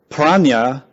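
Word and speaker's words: prajñā: Praa in Sanskrit is two syllables pra and nya. Nya means knowledge. Pra means beyond.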